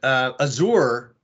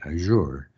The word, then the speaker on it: Azure: So in French, the people who speak French would say Azure, and we would be like, oh, the Americans say Azure, kind of a thing. Yeah. So it was more of a cultural or a locality type of difference.